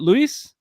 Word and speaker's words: Luis: Is it Luis? Luis, yeah, Spanish pronunciation.